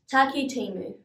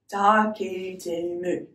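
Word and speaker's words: Takitimu: Taki Timu. Your turn. Let's break it up. Ta ki, your turn. Ti mu, you try. Now let's put that all together again. Ta ki ti mu.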